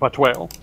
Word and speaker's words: Vatuil: And I think I can never pronounce his name right. I want to say Vatuil. Is that right? Vatuil? There you go, Vatuil.